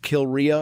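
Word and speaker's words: Kilrea: in my brain the the word Kil R it's phonetically pronounced Kil Ria and I've never seen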